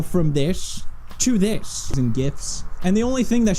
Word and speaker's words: GIF: It's GIF. It's pronounced GIF.